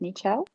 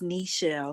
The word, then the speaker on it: Michelle: and i'll ask michelle am i pronouncing your name correctly by the way is it mitchell hi good afternoon it's michelle thank you so much